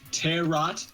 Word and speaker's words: tarot: my God is it tarot cards are you talking about tarot cards WAOW they're pronounced terot thank you you're right